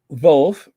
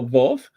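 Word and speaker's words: Wolff: Mercedes team principal Toto vulf right it's pronounced with a be Toto vulf ahead of the race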